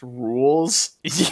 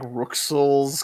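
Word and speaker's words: Rouxls: one of the songs in this game it's pronounced rules yeah because this is because everyone was pronouncing it like ruxel's card or whatever that's like how do you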